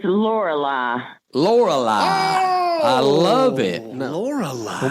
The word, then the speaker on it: Lorelei: Lorelei is beautiful. It is. How do you spell Lorelei? Trina? Lorali. Lorelei. Just like it's spelled.